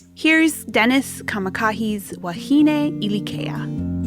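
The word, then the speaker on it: Dennis Kamakahi: And this is I can't pronounce his name. Dennis. Yeah, Dennis Kamakah.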